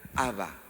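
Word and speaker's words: אבא: que se traduce por padre es la palabra haba así se pronuncia de hecho en alguna parte de la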